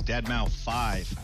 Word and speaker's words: deadmau5: is your good friend joel professionally known as deadmau5 yes that is the correct way to pronounce it tell your friends we're here to